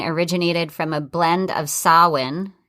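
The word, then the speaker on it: Samhain: traditions of halloween originated from a blend of sauhan it's pronounced s-a-m i mean it's spelled s-a-m-h-a-i-n but it's pronounced like solon um and that's the celtic celebration marking the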